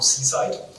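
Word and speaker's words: CSIDH: is what we call Seaside so don't get misled by the spelling here the pronunciation is C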